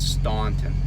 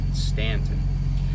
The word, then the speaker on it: Staunton: and by the way the u is silent and stanton it's not staunton stanton um it staved off